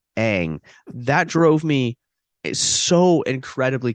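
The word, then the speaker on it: Aang: They whitewashed the cast, and the second one, it's pronounced Ang, not Ung. It's pronounced Ang.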